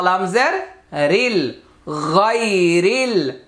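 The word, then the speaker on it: غير: গয়নিয়া জবর গাই, র লাম জের রিল, গায়রিল গায়রিল, আলিফটা উচ্চারণে আসবে না।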